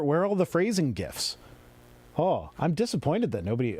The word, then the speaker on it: GIF: him and it is gif with hard g and you know it's